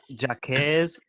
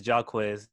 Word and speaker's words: Jacquees: pronounce this wrong okay correct me if I'm wrong jacquees yeah Jack Hayes and you know some I used to correct them and I'm like is jock whiz nearby Oh turkeys and I